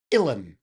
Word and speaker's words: Uilleann: per usual, things that come from Ireland or Scotland are spelt in a way that you would never pronounce things. Uilleann is pronounced Uilleann.